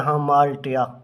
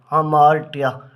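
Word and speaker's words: hamartia: है हमार्टिया ठीक है इसको हम प्रोनाउंस करते हैं हमार्टिया हमार्टिया ठीक है हटिया द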